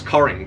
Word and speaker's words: Cockering: upon reaching his majority instigated the practice of pronouncing the family name as coring to avoid any further